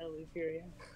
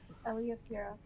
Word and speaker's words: Eliafira: Or look at Eluperia. How do you say your name? Eliafira.